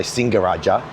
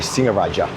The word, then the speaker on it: Singaraja: But if you see a word with only one g so ng only like singaraja you know that there's no hard g in there. So you don't say singaraja you say singer raaja and that can be